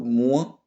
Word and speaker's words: moins: Alors, moi, je prononce pas le S, bien évidemment. Moi, je dis moins, il y a moins de choses.